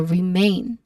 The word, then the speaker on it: remain: We try to focus on the word remain, which has a diphthong sound A. That's a diphthong sound. So we stress on the second syllable main. So remain.